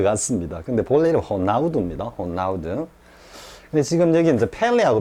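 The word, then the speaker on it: Ronaldo: 보통 저쪽에 남미 쪽에 R은 H로 주로 발음이 되는 모양입니다. 되고 저 에어 발음은 잘 발음을 안 하는 것 같습니다. 그래서 호나우두 이라죠, 그죠?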